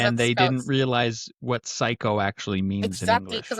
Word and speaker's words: Cayko: It's Well, it's actually pronounced psycho, and that's okay.